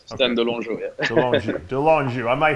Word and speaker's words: Stan de Longeaux: Is that pronounced? Yeah, that's right. Stan de Longeaux, De Longeaux.